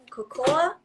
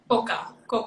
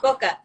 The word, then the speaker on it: coca: But let's share or speak on the cocoa. No, correct me. How do you say the leaves? What was it? Coca. Coca. The coca leaves.